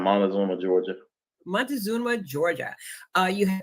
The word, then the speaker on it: Montezuma: You attended the Macon County High School in, how do you pronounce that city? Montezuma? Yes, ma'am. Montezuma, Georgia.